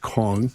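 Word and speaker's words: Kueng: Alexander, I believe it's pronounced Kong, is now on supervised release in January of this year.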